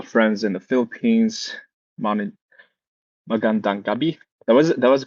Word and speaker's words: Magandang gabi: Mani Magandang gabi. That was the correct way to say Magandang gabi.